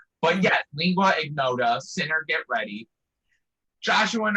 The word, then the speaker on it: Lingua Ignota: Yeah, Lingua Ignota. Thank you. See, it's the lingua part. I feel like I want to add too many syllables in there. But yeah, Lingua Ignota, Sinner Get Ready.